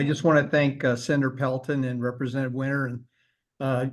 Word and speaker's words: Pelton: can you please pronounce your last name and spell it oh it's uh Pelton p l t o n thank you